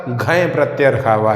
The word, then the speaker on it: घञ्: आइए अब समझते हैं कि घय प्रत्यय होता क्या है। तो देखिए लिखा हुआ है यहाँ पे घय, घ है और य, इसको नाक से उच्चारण होगा य, घय, इसको पढ़ेंगे घय।